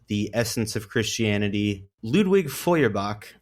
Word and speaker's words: Feuerbach: an hour to record a good take of Feuerbach, but it just sounds like I'm gagging because I can't do the German R sound. Feuerbach. Feuerbach. Feuerbach. Feuer. I like that. That's not As long real. as you pronounce the Oui, oui.